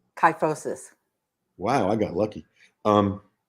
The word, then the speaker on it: kyphosis: 4 exercises for, how do you pronounce that? Kyphosis? Kyphosis.